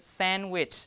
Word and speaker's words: sandwich: thank you so here the D is deleted first okay because in English when you have three three consonants in a row usually the middle one is deleted so now you are left with sandwich like this okay D